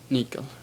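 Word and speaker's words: nyckel: could try that and just remember the little rule an O shaped but say e so it's Nico yeah so another word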